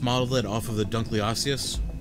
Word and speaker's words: Dunkleosteus: if they just modeled it off of the Dunkleosteus Dunkleosteus that's how you say it prehistoric giant giant